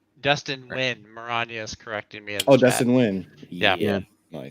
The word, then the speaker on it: Nguyen: Dustin Nguyen. Yeah. Nice. Like you pronounce like when. Yeah.